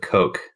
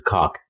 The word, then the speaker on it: Koch: Would you go with cock or would you go with coke? It's cock.